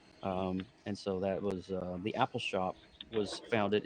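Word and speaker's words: Appalshop: How do I pronounce that from your book, Joe? Apple Shop.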